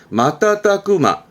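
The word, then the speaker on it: 瞬く間: 발음과 틀림은 달라요. 여기 앞에 했던 순간이잖아요. 이거를 풀어서 뜻으로 읽게 되면 마따따꾸마 하게 되면 의미는 순식간에.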